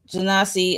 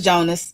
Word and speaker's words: Jonas: No, it's Jonas. It's Jonas. I'm just being funny. Um, it's Jonas.